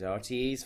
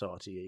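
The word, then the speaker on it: RTÉ: She's RTE's finest. I always like that. Caroline Erskine. I can't do it, but I always like the way Irish people pronounce RTE, because they don't say RTE, they always say RTE.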